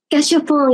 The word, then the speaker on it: Gachapon: we are hearing LUSS, and the song is Gachapon. Did I say it right? Gachapon, yeah. Gachapon.